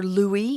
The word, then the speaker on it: Louis: as we call it you might hear his name pronounced Louis even in America because we've got some people who actually prefer Louie in America we're gonna call him Louis today so something really